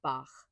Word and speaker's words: Bach: English speakers is to imagine you're saying the name Bach. I feel like most of us have grown up knowing how to say Bach with that kind of sound at the end, but that's not the full story of it.